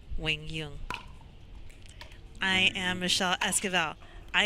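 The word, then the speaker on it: Quang Duong: against number five seed it looks like it's quing dang but ladies and gentlemen it's pronounced Wing Yung I am Michelle esal I am here with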